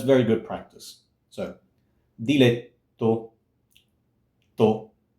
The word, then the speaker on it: diletto: So, diletto, to, it's a long T. Now, it's not diletto, it's not aspirated. It's not diletto, diletto.